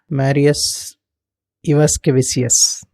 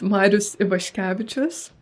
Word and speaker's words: Marius Ivaškevičius: If I'm pronouncing this right, Marius Ivaskevicius. Is that right? That's a good attempt. It's such a long name, honestly. So it's pronounced Marius Ivaškevičius.